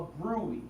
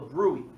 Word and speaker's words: bruit: It's called a bruit. It's spelled differently though, but it's called a bruit.